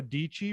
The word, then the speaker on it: Dietschy: mean from youtube uh sarah dietschy rhymes with peachy uh she always has